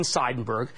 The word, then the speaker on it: Seidenberg: The man behind the stock is Verizon's chairman and CEO, Ivan Seidenberg. I pronounced his name right because his mother corrected me once.